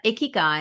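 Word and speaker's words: ikigai: foreign to me so it rhymes with sticky eye which is sort of useful as a doctor so your icky guy and it's the it's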